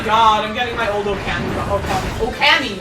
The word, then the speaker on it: Okami: Oh my god, I'm getting my old Okami. I said it wrong. Okami. Okami. Okami. Okami. What did you say? Yeah, long O sound.